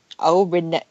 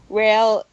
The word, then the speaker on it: Relena: Renee. I'm gonna pronounce the name wrong. Relena.